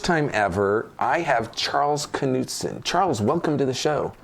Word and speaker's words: Knudsen: for the first time ever i have charles knutson charles welcome to the show thank you did i pronounce the name right yes okay um and